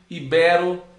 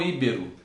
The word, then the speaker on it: ibero: e não dispar, edito, lei, fortuito, gratuito, ibero e não íbero.